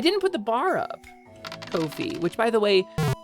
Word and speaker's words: Ko-fi: Ko-fi, which by the way, apparently is pronounced Kofi. It rhymes with no fee.